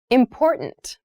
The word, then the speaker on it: important: pronunciation of this word that first t is actually reduced it sounds more like a d in fast speech water is important to